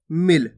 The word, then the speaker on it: मिल: पड़ कैसे रहे मिल आपको खीच के भी नहीं पढ़ना अगर आप खीच के पढ़ोगे तो बड़ी ई की मात्रा का उच्चारण हो जाएगा मील जबक अपन कौन सी मात्रा पढ़ छोटी ई की मात्रा तो कैसे पढ़ेंगे मिल जल्दी से उच्चारण कर देंगे क्लियर है अब चलिए